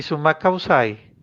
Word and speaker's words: Sumak Kawsay: Entonces, qué Bueno, bueno, ¿y cómo se pronunciaría bien? Jalalá jalala. y Summa Causai.